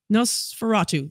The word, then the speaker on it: Nosferatu: Nosferatu.